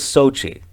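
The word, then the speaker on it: Xochitl: high school flashback because her name was Sochi it's spelled x-o-c-h-i-t-l Sochi anyway I had a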